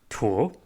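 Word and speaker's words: 鼍: But it was used in ancient Chinese text to refer to the Chinese alligator specifically, and it's pronounced tuo, which is very different from the character that was used for that is now currently in use for crocodilians.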